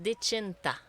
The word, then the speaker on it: Dechinta: C'est Dechinta. Vois-tu, je l'avais mal prononcé. Il faut dire chin. Chin. Moi, je Oui, dis Dechin. Dechinta. Non, c'est Dechinta.